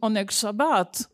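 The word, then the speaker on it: Oyneg Shabbos: Monika pronounced it Onek Shabbat, but we think that they pronounce it Oinek Shabbos, which means Sabbat joy, as fulfillment of a religious duty.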